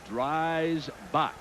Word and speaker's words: Dreisbach: Now, here's the new quarterback Dick Vermeil referred to, and it is Dreisbach. That's how you pronounce his name, out of Indiana, number 12.